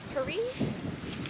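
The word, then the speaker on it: Currie: The nearest town is Curry. Maybe it's pronounced Curie, but I'm inclined to say Curry simply because Curie I think only has one R.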